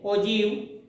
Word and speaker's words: ogive: This term ogive is pronounced as ogive and it derived from the word ogive.